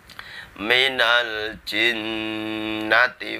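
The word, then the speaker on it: مِنَ الْجِنَّةِ: yang terakhir ayat keenam Minal jinnati wanna Minal jinnati itu Jin nantinya ada Nun bertasydid jadi dibaca dengung dua ketukan atau dua harokat Minal jinnati tapi enggak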